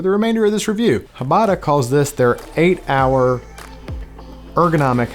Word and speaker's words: Hbada: Is the H silent? Is it Bada? Is it Hbada? There's no A though, so is it just Hbada? Is it just me?